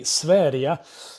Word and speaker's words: Sverige: to the swedish country sverdia which is how you pronounce it in swedish but you've probably not